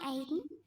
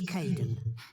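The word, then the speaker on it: Kaeden: welcome to the team hi Aiden uh it's Kaden I'm so sorry oh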